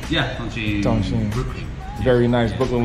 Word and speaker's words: Tonchin: Yeah, Tonchin.